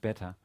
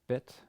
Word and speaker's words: Bet: The next consonant of the alphabet is Bet, which is a regular B, and without a dot, this letter is actually pronounced as a V, as a regular V sound.